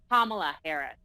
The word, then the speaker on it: Kamala Harris: And Sebastian, by the way, you pronounce her name Kamala Harris.